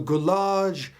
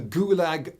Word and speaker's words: Gulag: should give a listen the galage archipelago or as it's more commonly pronounced the gulag archipelago and this has been